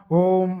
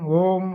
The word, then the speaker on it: ஓம்: உகந்த பீஜம் இந்த ஓம் அடி வயித்துல இருந்து நெத்திப்பட்டு வரைக்கும் அந்த ஓம் அப்படிங்கிறதை இழுத்து சொல்லணும் சரிங்களா சும்மா ஓம் ஓம் ஓம் அப்படின்னு சொல்றதுனால ஒரு பலனும்